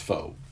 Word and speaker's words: faux: know what fo means it's spelt french f-a-u-x but it's pronounced foe and it just means